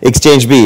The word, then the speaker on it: exchb: We'll leave it up to you to pronounce but exchange B is what we call it.